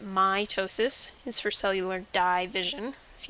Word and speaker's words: mitosis: the words are said so mitosis if you emphasize the i sound you get mitosis is for cellular division